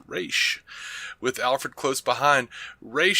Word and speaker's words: Ra's: sadig re Al goul yes pronounced re with Alfred close behind